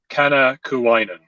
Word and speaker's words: Kanakainen: So it's a Finnish name. It's pronounced Kanakainen. Kanakainen.